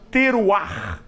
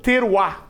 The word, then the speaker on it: teruah: só, que é a palavra teruah, ou teruá, para ser mais fácil da gente pronunciar.